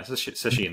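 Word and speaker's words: sesshin: intense you know like sashen sashin yeah sashin that's the that's the proper Japanese pronunciation so mad respect no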